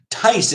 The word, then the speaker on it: Thijs: That's pronounced Timon and Tice. Tice is actually the nickname for Matthias, or Matthijs.